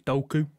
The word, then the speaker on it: Doku: It's not Doku, it's Doku.